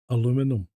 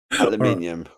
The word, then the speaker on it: aluminum: It all started over the conversation I was in all started over aluminum. Aluminium. Yeah, exactly. But apparently aluminum was the original pronunciation. And then we changed it. Right? But the Americans didn't.